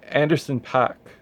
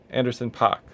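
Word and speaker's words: Anderson .Paak: from none other than anderson pack anderson pock i don't know why i said his name wrong but yes we we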